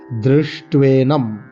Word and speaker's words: দৃষ্ট্বেনম: যারা অনেকে প্রশ্ন করেন যে আমি এখানে দৃষ্ট না দ্রষ্টা বলবো, এরকম নয়। আমরা যারা বাঙালিরা, পশ্চিমবঙ্গবাসী, তারা সামবেদ প্রধান, তাই তারা সামবেদে রিয়ের উচ্চারণ রিয়ের মতো হয়। এটি আমার যিনি গুরুদেব পরম পূজ্য গৌতম গোস্বামী মহাশয় তিনি বলেছেন। সেই পরম্পরা ক্রমে এই জ্ঞান আমি লাভ করেছি। দৃষ্ট্বেনম উনি বলেছেন, দ্রি হবে।